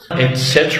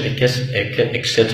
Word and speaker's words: etc.: نفس زي ده نطق اللي في كذا نطق، النطق السهل زي تقفل وتفتح الباب. Close. Close. Etc. Etc. يعني إلى آخره، ما تقولوش etc.